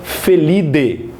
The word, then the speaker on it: Felidae: Por exemplo, e outro detalhe, Idae, em latim, o A e o E tem som de E. Então você não pronuncia Felidae, você pronuncia Felidae.